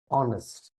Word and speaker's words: honest: H is silent, mute.